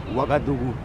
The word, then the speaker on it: Ouagadougou: How do you pronounce the name of the capital? Ouagadougou.